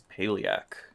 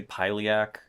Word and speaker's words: pailiaq: It is paleac. Uh or you can say piliac. You can say whatever you want.